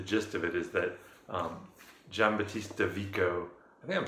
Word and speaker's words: Giambattista: The gist of it is that Giambattista Vico, I think I'm saying that right, because G-I-A, you say Giardino, Yeah, so not Giam, it's Giambattista Vico.